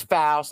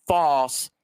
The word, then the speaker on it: Faust: My last name is Faust, not false. It's Faust. Say the word louse, take the L off, put an F on it, and that's how you pronounce it.